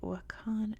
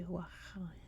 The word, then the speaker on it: Wakhan: because it contains the Wakhan corridor. And that's how we pronounce it in English. I think in Afghanistan it would be closer to Wakhan.